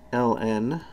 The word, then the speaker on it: ln: and we have a special symbol for log base e of x it's ln of x often pronounced lawn of x it's ln because in